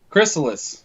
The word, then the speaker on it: Chrysalis: How do you pronounce the name? Is it Chrysalis? Chrysalis.